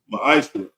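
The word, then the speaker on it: מעשר: In the Hebrew, it's pronounced ma'ashra.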